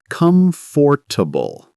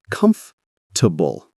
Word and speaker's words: comfortable: Many people say comfortable. Oh, I do that too. But it's comfortable.